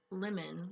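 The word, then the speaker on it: limen: it comes from the latin word lemon which is spelled like lyman l-i-m-e-n which means threshold it's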